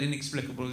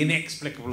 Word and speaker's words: inexplicable: your continuity announcers that the stress on the word inexplicable is on the second syllable I don't even know which one I think it's meant to be inexplicable or I don't even